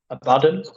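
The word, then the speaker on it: Abaddon: I have one I've bought which is abadon abadon you pronounce it and I'd love to paint G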